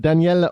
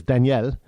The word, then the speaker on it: Daniel: on stage Nicaraguan president Danielle Orga I know we say Daniel but he says Danielle Danielle Orga accused the